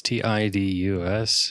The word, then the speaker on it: Tidus: Apparently, I think that's Titus. Yeah, someone said it was Titus. Titus. I mean, it's Tidus, and so who knows what the translators were thinking, you know?